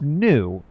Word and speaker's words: Mu: It's new. I keep saying moo, but mu is pronounced new.